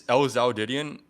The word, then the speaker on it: lzhoudidion: So yes, it's lzhoudidion.